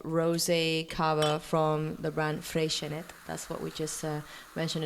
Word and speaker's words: Freixenet: I am going to tell you, Nalini, how I think I would pronounce it, and it would be Freixenet. Okay. Freixenet. Because it's from Catalonia.